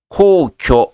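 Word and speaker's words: 皇居: 코오교 하게 되면 황거입니다. 일본 천황이 머물고 있는 곳을 황거라 그래요. 코오교라고 읽습니다.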